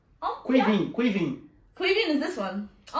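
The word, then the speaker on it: Caoimhín: So it's Quiveen.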